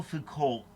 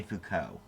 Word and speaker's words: Foucault: Most people say Foucault, by the way. And I think it's maybe supposed to be pronounced Foucault, but I say Foucault.